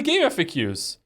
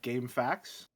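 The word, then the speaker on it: GameFAQs: It is literally game FAQs. Sburb And beta now if- walkthrough. Okay, I've always pronounced this like as if like game facts instead Oh, of this is the me.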